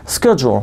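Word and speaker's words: schedule: تلفظش اسکیجول هست به معنی برنامه یا پلان.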